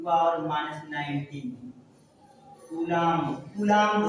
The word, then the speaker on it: Coulomb: और इसे देखिए एक बार फिर से मैं लिखता हूं कूलाम, बट इंग्लिश में लिखेंगे तो कूलाम COULOMB साइलेंट होता है।